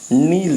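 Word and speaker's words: kneel: पहला ही वर्ड आपको नील दिखाई दे रहा है, ठीक है ना। के नहीं बोला जाएगा इसमें।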